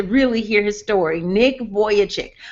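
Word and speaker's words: Vujicic: hear his story Nick voyage chick but his voyage chick is spelled like the sensible it throws me that the way it looks but it's vu j icse voyage chick voyage chick if you google him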